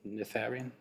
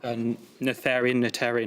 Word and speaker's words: Noetherian: Noetherian. Nominate Hart. Noetherian. I'm not entirely sure how you pronounce it.